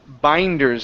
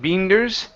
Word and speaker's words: binders: Next up is the word binders instead of beenders.